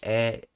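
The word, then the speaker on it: へ: in the direction of something, you you use e for that instead of knee. And notice how I'm pronouncing it as Even though it's the letter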